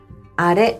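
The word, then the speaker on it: あれ: 또한 제 가 발음 해 보니 " 코레 ", " 소레 ", " 아레 " 는 끝 부분 이 높게 발음 됩니다 .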